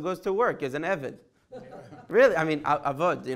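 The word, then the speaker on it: עבד: Because you have to understand, we have a Hebrew word called eved.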